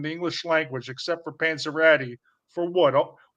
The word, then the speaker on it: Panzerotti: Panzerotti, Panzacrati, Panzarelli, Pepperoni, Pete Pepper Pastic. You have literally pronounced every single word in the English language except for Panzeratti for what?